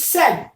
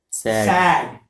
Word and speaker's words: said: The second thing I would like you to know, it is said, not sad.